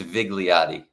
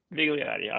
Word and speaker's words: Vigliotti: It's it's Vigliotti. Vigliotti. Okay. Well, I would I would have gotten it correct, but probably mispronounce it, you know, later.